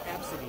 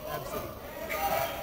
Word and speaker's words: Abcde: Oh, it's Absidy. That's supposed to be pronounced. Absidy. It's spelled ABCDE. It's like kids are still picking on it. Word? When it's like in the news. Absidy.